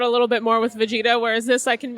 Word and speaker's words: Vegeta: your your cursing in the background or swearing Vegeta doesn't typically swear but he has a lot